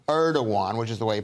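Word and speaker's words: Erdoğan: even though they're suffering from incredibly High inflation erdogan erdogan which is the way you pronounce his name says the turkey has chosen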